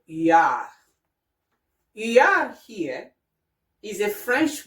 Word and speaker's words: huard: And you can also find the same sound in the French word huard.